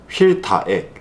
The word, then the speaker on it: 휠타액: 그것도 그 채널명 그 크리에이터 이름을 달고 휠타액 휠앤타이어 엑시먼 크루입니다. 그래서 엑시먼 크루의 A 크루의 C 이렇게 해가지고 AC 요걸 발음하면 액이죠.